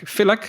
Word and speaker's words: Filak: Filak, is that a good way to pronounce it? That's correct.